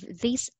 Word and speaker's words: this: By the way, I just want to explain the pronunciation of this and these. T-H-I-S, short sound po siya. This, this. T-H, okay. T-H-E-S-E, long sound, these, these.